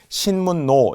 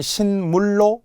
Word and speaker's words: 신문로: 발음을 잘못하면 신물로 리을 엘럼 안 된다는 거예요.